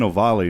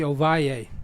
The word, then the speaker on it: Ovalle: I've been saying Ovali and stuff. Its true Spanish pronunciation would be Ovalle.